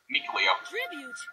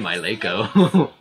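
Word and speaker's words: Mikleo: Mikuleo. Oh, that's how you pronounce it? I think I butchered the name. I said my Leiko.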